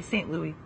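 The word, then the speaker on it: St. Louis: pardon me st louis that's the french way saint louis because we don't pronounce the us that's right and uh you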